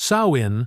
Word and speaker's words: Samhain: To protect themselves, they held Sam Hayne, pronounced sawin, part thanksgiving, part communion with the other world.